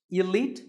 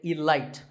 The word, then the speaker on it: elite: that's right for you number 48 is the word elite actually there are two correct pronunciations Elite and Elite both are okay but just don't say Elite there's no light in Elite now if you keep